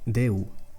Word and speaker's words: Déu: A closed E would be Déu. Déu means God in Catalan.